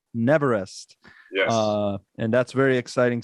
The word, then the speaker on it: Neverest: member of an award-winning pop rock band called Neverest.